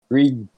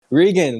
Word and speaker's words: Regan: Well, our next person is the reason why I got Reagan? Is that it? Regan.